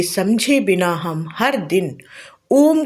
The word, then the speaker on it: ओम: ओम तीन अक्षरों आ, उ और म से मिलकर बना है।